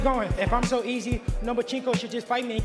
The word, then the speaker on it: Lomachenko: You are now the mandatory challenger for Vasily Lomachenko's 135-pound title. Do you believe at 20 years old you're ready for that type of challenge? I think you said his name wrong. It's Lomachenko because he doesn't want to fight me.